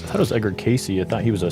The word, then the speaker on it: Cayce: Yes, I believe it's Edgar Casey is how you say his last name.